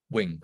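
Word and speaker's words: 詠: right um and so Wing to me is the Cantonese pronunciation uh my Mandarin is better so young against the pound and The Young and the young so uh Wing or young in Mandarin is uh it means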